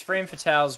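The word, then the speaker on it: Frame Fatales: had earlier about pronouns uh frames is it frame fatals right I feel like I always say it wrong yeah it's frame fatals but the uh the specific event in August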